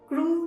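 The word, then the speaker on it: crew: छोटा सा नेक है स्पेलिंग बड़ी मजेदार है स्पेलिंग तो सुनोगे आप हैरान हो जाओगे सी आर ई डब्लू so don't miss pronounce it इसको आपने क्रू बोलना है व्ट डू वी से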